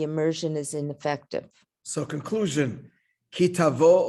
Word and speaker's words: Ki Tavo: So conclusion, ki tavo or ki savo in the Ashkenaz pronunciation, or tavo, it doesn't just mean, a casual encounter.